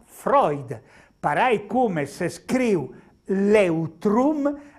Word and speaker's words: Freud: famoso psicologo Sigmund Freud se scrivo Freud e pronuncia Freud farai come se scrivo l'eutrum Esse pronuncia loitruth